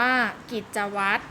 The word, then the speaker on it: กิจวัตร: ทราย เลย นะ คะ กิจวัตร อ่าน ว่า กิจวัตร นักษัตร อ่าน ว่า นักษัตร